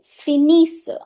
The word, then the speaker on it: finissent: With LL, I'll write double S-E-N-T. E-N-T is silent.